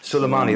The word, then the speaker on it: Soleimani: I know I'm pronouncing that wrong. Soleimani, that's it.